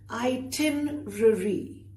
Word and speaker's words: itinerary: Honestly, itinerary. Not itinerary. Itinerary. Try it again. Itinerary, which means the plan for a journey.